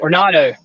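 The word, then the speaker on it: d'Arnaud: Arnado.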